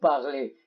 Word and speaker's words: parlez: إذن Z لا تلفظ. vous parlez.